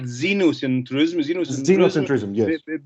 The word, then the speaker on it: xenocentrism: and tourism you know xenocentrism yes begins with an x okay but it is pronounced as a z and thank you very